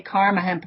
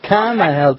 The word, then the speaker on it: Kama Hemp: But thanks for the introduction, and I do have to correct you, and it's always funny when people say Karma Hemp, because it's actually Karma, K-A-M-A, which is actually an ancient word for love, believe it or not.